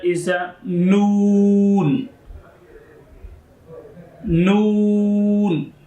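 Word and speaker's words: ن: After the meme is the next letter is a noon. Noon. You around of your lips and make it whole of your lips, and then you pronounce of this noon.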